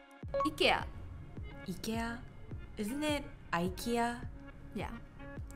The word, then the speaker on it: IKEA: okay all right yeah so it's ee ikea but in swedish pronunciation it's actually ikea oh yeah in korea